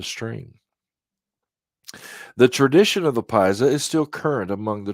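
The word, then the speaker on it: Piasa: Illinois side this tree this stream is the Paisa it's spelled p-i-a-s-a its name is Indian and signifies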